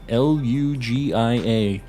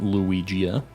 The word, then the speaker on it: Lugia: I would know that it wasn't luigia I'd know that it was Lugia it's okay I can